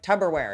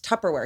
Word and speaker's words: Tupperware: the word tupperware remember he was like tubberware and someone was like it's tupperware he was like tubberware